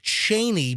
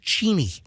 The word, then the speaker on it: Cheney: People say Dick Cheney, but actually it's pronounced Cheney. That's the way you really pronounce it.